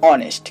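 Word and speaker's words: honest: তেমনি করে দেখুন অনেস্ট, এখানে এইচ বসেছে ঠিকই, বাট কোনো কাজ করছে না, কাজ করছে পরের বর্ণটা।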